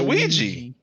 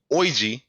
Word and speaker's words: Ouija: It's Ouija. Ouija. But it's doesn't it like spell? Isn't it spelled with an O? Like It's more like orgy, oigi, but it's Ouija. Yeah, it's OUI. It's we, right?